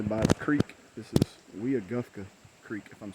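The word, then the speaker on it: Weogufka: I've been saying it wrong. I think it's actually called Weagufka.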